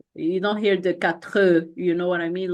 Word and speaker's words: quatre: The first pronunciation rule is the final consonants are often silent. So for example, this, then it's this. You don't hear the X, kind of. Quatre, it's quatre.